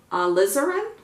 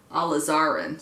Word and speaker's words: alizarin: this the crimson hue alizarin alizarin somebody said like lizard put the emphasis on the Liz part so alizarin and then